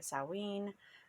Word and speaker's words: Samhain: don't get confusions between samhain and samhain um i've also heard it salween there's just lots of